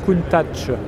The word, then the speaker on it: Countach: Donc c'est du piémontais, hein, je rappelle, donc ça se prononce Countach avec un T, che. C'est pas de l'italien la prononciation.